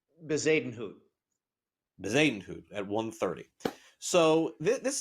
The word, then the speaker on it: Bezuidenhout: Christian, how do you pronounce his last name? Bezadenhout.